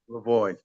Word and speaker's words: Lavoie: you uh Mr uh lavoi how how you pronounce it right Lavoy Lavoy and I want to